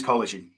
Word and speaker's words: Kolozsi: put the last initial cuz I'm struggling to spell it myself. Um, but yeah, Collagy. Nice to meet everyone. There it is. Right. Collagen.